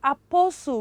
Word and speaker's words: apostle: your bible it is apostle because the t in up the t coming after letter s is what is silent is silence another one